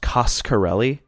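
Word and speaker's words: Coscarelli: thing I learned for sure is that it's pronounced costarelli okay I wasn't sure if it was karelli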